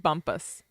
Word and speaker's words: Bumpass: chat we'd appreciate it okay it's pronoun it's pronounced Bumpus I mean who is